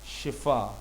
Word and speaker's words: شفا: تو اپنے لفظوں کو بہتر بنائیں اور صحیح تلفظ کی عادت ڈالیں۔ شفا صحت، شفا صحت، شفا صحت، یاد رکھیے گا۔